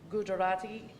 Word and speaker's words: Gujarati: There are 2 more Mandarin Chinese speakers with a total of 21, and the language is, this next language is pronounced Gujarati, and we have 13 speakers currently here at GCCS.